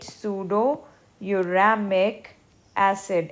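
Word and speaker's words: pseudomuramic acid: Pseudouramic acid, we say it pseudouramic acid. M is silent here.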